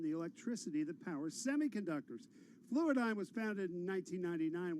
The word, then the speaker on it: Fluidigm: Fluidigm? Is that how you pronounce it?